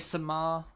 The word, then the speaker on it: Samar: I mean, Samar kind of almost rhymes with Chris Kamar, so to be fair.